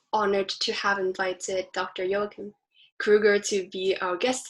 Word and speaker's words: Joachim: and my experience is it's very difficult for native speakers of english to pronounce my first name it's a hebrew it's the german version of a hebrew name um so when i grew up it was pronounced joachim and americans and native